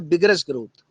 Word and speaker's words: vigorous: नहीं, प्रोनाउंसिएशन होता है बिगरस ग्रोथ, बिगरस ग्रोथ कहेंगे आप, है ना।